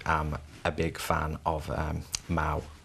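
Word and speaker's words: Mahou: But I personally am a big fan of Mau beer, which is, people perhaps might know it as Mahu, as sometimes they look at it, where it's spelt the way it's spelt.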